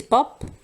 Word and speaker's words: pap: This is pop, not pap or other weird pronunciation. It's basically Afrikaans word just taken over by English.